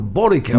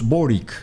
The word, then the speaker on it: Boric: variables hay varios bueno allí pronuncian boris y creo que esa es la pronunciación orixe probar ya yo lo pronunció por it pero estamos hablando de la misma persona hay varios boric verdad en una persona